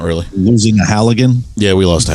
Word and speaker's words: Halligan: Wait, is it not pronounced halogen? Halogen? Like a bulb. It's a Halligan.